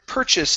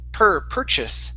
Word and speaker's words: purchase: Next is the word purchase instead of purchase. It's purchase. Purchase.